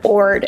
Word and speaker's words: Jord: this watch this is from a company called Ord but it's spelled George J Ord but you pronounce it Ord and they were so generous to send me